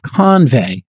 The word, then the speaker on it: Convai: co-founder and CEO of convey uh and uh it's spelled Co NV AI if you're looking for it but it's convey as in convey something uh the CEO of